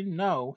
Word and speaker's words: know: Okay, so you say I know him well. I know him well. Batay kèn duko dawalé ci pronunciation. You don't say I know. The car is silent, don't pronounce it.